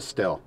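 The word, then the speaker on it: Stihl: a husqvarna or a still or steel depending how you want to pronounce it if you're for one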